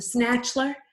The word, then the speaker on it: Snatchler: or first of all the snatchler rhymes with The Bachelor and that's what the